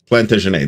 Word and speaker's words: Plantagenet: Dan, how do you pronounce the name of that game? The way you said it, Plantagenet. Plantagenet.